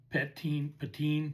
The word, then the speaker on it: Pettine: We had Mike Pettine, Mike Pettin is how you pronounce it.